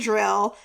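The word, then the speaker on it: Dryl: from a mind and drill drill even though it's not spelled it's spelled Dr r y l it's a place where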